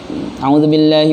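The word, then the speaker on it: أعوذ بالله: Misalkan harusnya 2 harokat, ini hilang harokat yang 2 tadi. A'udzubillahi minasyaitonir u-nya hilang. Harusnya a'udzubillah, 2 harokatnya ada. Ini a'udzubillah. Bilang potong huruf mad.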